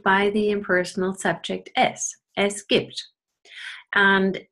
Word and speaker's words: gibt: Now, when I ask one little thing here, the B is pronounced P, gibt, because the voiceless T follows and then this becomes devoiced, gibt.